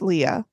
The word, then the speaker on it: Lea: is from Albert Le it's pronounced Leah um that was below